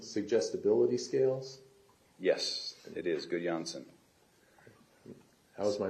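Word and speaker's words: Gudjonsson: 20 please so um GSS is that uh good yansen suggestibility scales yes it is good Jansen how's my pronunciation perfect was it very nice thank you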